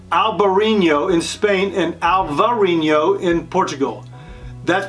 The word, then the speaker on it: Alvarinho: This grape is called Albariño in Spain and Alvarinho in Portugal. That's pronounced Alvarinho.